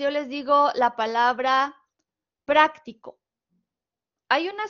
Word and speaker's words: práctico: diferente práctico práctico que práctico es una palabra muy interesante porque puede tener el acento prosódico en cualquiera de sus tres sílabas y donde lo lleve va a tener un significado diferente lo han notado en este caso aquí dice práctico porque tiene la sílaba tónica en pra Pero si yo se la